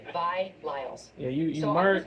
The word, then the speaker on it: Vi Lyles: Is that how you pronounce Vile. it? Her name is Vile. It's Vi bars. Lyles. That's her name, Vi Lyles.